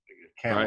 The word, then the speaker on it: Kamala: He announced that his running mate for the 2020 election will be, and I always mispronounce her name, Senator Kamala Harris. Kamala. Right? I think it's right. It's Kamala, right?